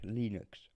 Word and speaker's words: Linux: little WAV file that told us how to pronounce it, but it's Linux.